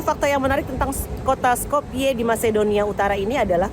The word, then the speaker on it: Skopje: Salah satu hidangan pembuka yang saya coba, hidangan khas Skopje, meskipun tulisannya Skopje tapi dibacanya Skopje.